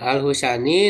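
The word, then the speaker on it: الخشني: Ya, al-husani, nah gimana cara bacanya? Yaitu kho-nya didomakan yang bertitik mujama. Lalu sin yang bertitik ya fathah husya ya, lalu nun ya husani ya.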